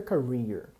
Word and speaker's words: career: pronúncia Carrier xpower Carrier primeira sílaba é fraca depois é mais forte para mim ir tá